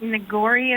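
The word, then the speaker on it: Neoguri: We had, I think, Nagori is how you pronounce it.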